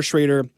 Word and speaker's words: Schrader: was working with uh I always thought it was Schroeder maybe I was saying it wrong traitor um but Josh Schroeder Schrader uh who has worked